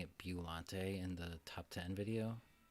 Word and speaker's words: Biollante: Biollante, which I noticed some people were confused by me pronouncing it Biollante in the top 10 video.